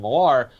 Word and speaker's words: Millar: Grant Morrison and Mark Miller, or Mark Millar, I don't know how to pronounce his name. Millar.